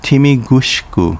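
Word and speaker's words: Tomigusuku: border touching the ocean tomigusku pronounced timi gushku in uchinaguchi is where the japanese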